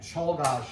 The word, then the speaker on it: Czolgosz: Czolgosz is how you pronounce his name.